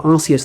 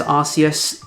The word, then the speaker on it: Arceus: previous videos, but yes, I do say it as Arceus. Yes, I do know that Arceus is probably the correct pronunciation. No, I'm not going to start saying it differently.